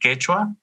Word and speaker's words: Quechua: that language here and we have a different pronunciation in peru it's called quechua in ecuador it's called kichwa so in this kitchen language